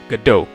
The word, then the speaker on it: Godot: Jadi, nama Godot itu diambil dari judul drama teatrikal asal Prancis, Waiting for Godot, sehingga pengucapannya adalah Godot.